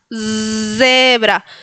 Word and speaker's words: zebra: Ellos no dicen zebra, sino zebra. Zebra, como si una abejita estuviera volando.